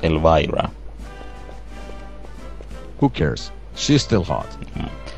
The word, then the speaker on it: Elvira: pronounced Elvira.